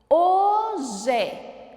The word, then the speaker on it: hoje: Hoje. 2 sílabas.